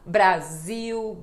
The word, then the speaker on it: Brasil: podem praticar vamos praticando Brasil Brasil legal legal Lembrando que isto é uma pronúncia do Brasil em Portugal não eles não fazem este som de u com a letra L tá bom m a